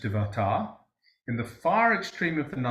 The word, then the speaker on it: Devata: Then a certain Devata, or it would be pronounced Devata, in the far extreme